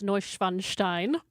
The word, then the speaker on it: Neuschwanstein: Indeed, if we're going to get real German with it, I have been to Schloss Neuschwanstein.